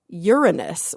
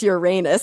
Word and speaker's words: Uranus: So I was like, okay, what about Uranus, which is like the modern way that astronomers pronounce Uranus because they don't want little kids to laugh in the audience.